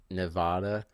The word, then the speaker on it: Nevada: from the East Coast, I gotta say it's Nevada. That's how we say it on this side of the country, and I think that's the right way to say it because who named the West Coast?